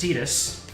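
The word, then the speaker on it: Tidus: Final Fantasy 10 and the narrator called him tetus and um and then my brother and I looked at each other like wait that's how you say it and then later on other official media came out and yep his name is tetus quick get him look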